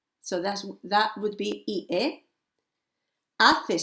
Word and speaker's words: hace: Hace sol, silent H. Está nublado. Hace frío, again, silent H. Hace calor, silent H again, okay?